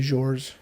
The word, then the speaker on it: Georges: his name but is it is it just george or george i would say georges georges yeah george and yeah they seem to pronounce the s because i think i thought